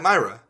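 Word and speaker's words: Mira: I I've heard Chris Hardwick say Matt Myra sure because that's his name but I heard you say Matt mea when a baseless accusation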